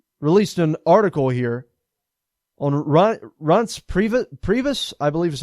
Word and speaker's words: Reince Priebus: Wolf, released an article here on Reince Priebus, I believe is how you pronounce it. Reince Priebus.